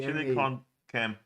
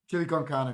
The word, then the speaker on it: chili con carne: chili con cam. Can. All right. Chili con carne it is.